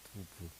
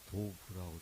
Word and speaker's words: Douve: 그 다음에 여기서 등장하는 이 주인공 여자, 그 두부, 뭐 두부라고도 하고 뭐 도부라고도 그러고 이렇게 명칭이 여러 가지 쓰이는데 저는 그 두부로 통일을 하겠습니다. 두부. 이것은 프랑스 원문 발음이 이렇게 두부로 되기 때문에 그렇게 하는 겁니다.